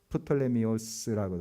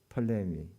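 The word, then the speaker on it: Ptolemy: 망하는데 그 헬라 제국 중에 크게 셀리쿠스, 그 다음에 여기 애굽 쪽에 있는 톨레미, 프톨레미오스라고도 하고 톨레미, 영어식 발음 톨레미라 하죠.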